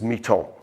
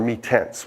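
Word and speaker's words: Mi-Teintes: Another one which is really the workhorse of an introduction to many foundation students and amateurs alike is Miton, or Mitense, whichever way you would like to pronounce it.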